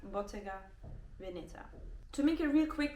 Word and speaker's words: Bottega Veneta: move to boteca Veneta my Italian actually told me that's how you pronounce it so it's Bottega Venita to make it real